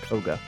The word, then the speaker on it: Koga: Now, Arcane 3, also known as Arcane Koga, or Qoga, apparently it is supposed to be pronounced Koga.